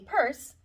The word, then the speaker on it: purse: me per c no it's just called a purse so the e on the end is silent okay okay what about